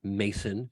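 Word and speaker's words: Masson: not to do that it's Mason but it's two s's that's what throws me off man you got the two s's in there it's the French yes it's just changing the pronunciation of my name after these shows Eric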